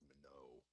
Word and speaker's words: Minot: It's pronounced Minot.